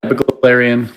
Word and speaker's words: Belglarian: Her name is Lilith Belglarian. Am I saying it right? Yeah, Belglarian.